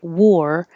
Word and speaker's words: war: know why War blur it looks like AR but it sounds like o r just like in the word War w-a-r sounds the same as w-o-r with a